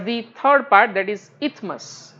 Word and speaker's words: isthmus: Moving towards the third part, that is isthmus, right. S is silent, right, it is not isthmus, it is called as a isthmus.